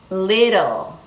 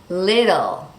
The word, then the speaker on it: little: So in all of those words, if you want to pronounce the T clearly, like little or bottle, that's fine. But Americans will always pronounce it with that quick D sound.